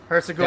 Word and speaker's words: Herzegovina: Herzegovina.